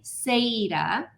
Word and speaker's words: Saeta: a little bit about her new book, Leslie Saida.